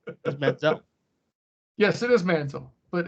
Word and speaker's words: Manziel: Yes, it is Manziel. But it's more fun calling. That was on purpose, actually. That was on the Manziel.